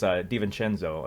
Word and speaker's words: DiVincenzo: and somebody spelled it out in YouTube comments phonetically. So it's DiVincenzo, I believe.